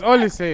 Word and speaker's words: Olise: Elise. It's Olise, man.